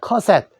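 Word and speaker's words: cassette: 그래서 카세트라고 우리가 하는데 영어에서는 카세트 칼말이 요 티귿이 요 받침 밑으로 들어갑니다. 그래서 커셋이라 해요. 커셋.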